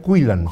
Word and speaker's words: Quillan: Es la derrota de una de las grandes promesas del ajedrez ruso, Dubov, contra un británico, se pronuncia Quillan.